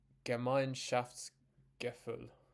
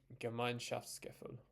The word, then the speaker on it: Gemeinschaftsgefühl: Are you ready for me to try and pronounce it? Gemeinschaftsgefühl. Gemeinschaftsgefühl.